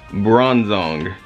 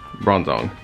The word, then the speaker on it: Bronzong: Bronzong. Bronzong.